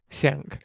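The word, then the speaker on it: Schenk: I I don't know how it's pronounced. Shank.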